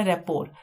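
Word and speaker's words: rapport: Next है हमारा रेपोर। इसकी प्रोनाउंसिएशन रेपोर है, यानी कि टी इसमें नहीं आ रहा है साउंड में, लेकिन हम अपनी ट्रिक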